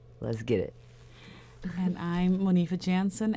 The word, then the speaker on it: Monifa Jansen: L and C let's get it and I'm Monifa Jansen m o n IFA J Ann on all